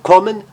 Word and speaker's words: kommen: Então, kommen, sollen, sons abertos e breves, porque vêm seguidos por duas consoantes, não necessariamente iguais, como,